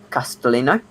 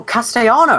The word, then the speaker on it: Castellano: So we are going to go on board with Kasper Nizio for Scuderia Castellino. Oh, Castellano, apparently.